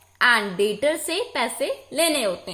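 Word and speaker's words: debtors: हाँ, ये जो एक और बात है, ये डेप्टर नहीं बोलेंगे, वी विल से डेटर्स। इसमें क्या होता है, बी हमारा साइलेंट होता है, बी इज साइलेंट। ये जो बी होता है इसको हम नहीं बोलेंगे, इसमें बी साइलेंट होता है।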